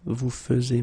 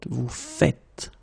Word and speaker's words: faites: The first one here for pronunciation, nous faisons, and the second one here because you write it like that and it's not vous faisiez but vous faites.